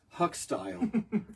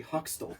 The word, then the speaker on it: Hoxtel: going to talk about Huck style but I can't I can't because I mispronounce it it's actually hoxtel oh my gosh and